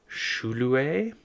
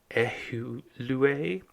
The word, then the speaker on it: Ejulve: Ejulve. So maybe even at that time that U would have been pronounced as a V.